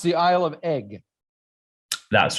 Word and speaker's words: Eigg: So it is pronounced the Isle of Eigg.